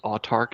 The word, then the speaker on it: Autarch: that this is on kickstarter uh under projects autark is that how you pronounce the company yeah uh and tell us